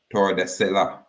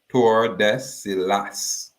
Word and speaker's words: Tordesillas: by way of the Treaty of Tordesillas, or Tordesillas. Them say the double L pronounce a Y sound. But we would say Tordesillas. We don't mind I say it that way.